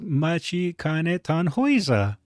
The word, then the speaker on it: Matikanetannhauser: Oh, it is Machi Ketan Hoa. So, I've been saying it wrong.